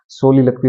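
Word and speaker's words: soliloquy: उच्चारण देख लेना अभी इसका प्रोनंसिएशन सोली लकवी बोलते हैं इसको।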